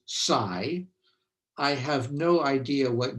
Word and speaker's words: psi: x and t and american physicists pronounce this greek letter as psy i have no idea what greek people actually say but american physicists say it as psy um okay so um